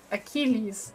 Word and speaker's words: Achilles: achilles in my brain in english it's a achilles okay achilles uh achilles oh gosh achilles here oh that sounds cool actually achilles yeah but yeah we